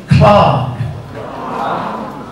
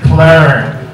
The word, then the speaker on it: clerk: And the pronunciation is actually Clark. Clark in British English.